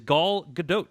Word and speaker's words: Gal Gadot: so unless you're saying she's pronouncing her own name wrong it is gal gadot t' uh so I don't exactly know what